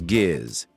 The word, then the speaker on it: Giz: His name was Giz. G-I-Z, pronounced like Gizmo.